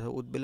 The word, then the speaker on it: উদ্বেল: তার তিন নম্বর নিয়মে কি বলছে যদি আমরা উদ পাই এই যে রসু আর দ পাই দ পাই তাহলে এই দশে যে বটা থাকবে এই বটা এই বটা আর দ কে দ্বিত করতে পারবে না এই দ শুধু দ হসন্ত হবে যেমন কি উদ্বেল কি